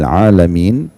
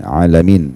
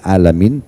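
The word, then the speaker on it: العالمين: Rabbil alamin pakai ain alamin Tuhan alam semesta. Kalau kita bilang alhamdulillahi rabbil alamin. Segala segala e puji dan puja kehadirat Allah Tuhan alam semesta pakai ain alamin. Tapi kalau Bapak Ibu banti menjadi hamzah Rabbil alamin Tuhannya orang-orang sakit.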